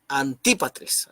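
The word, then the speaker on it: Antípatris: la izquierda ahí está aquí a anti patrice anti para tres así se pronuncia anti para tres esta idea y era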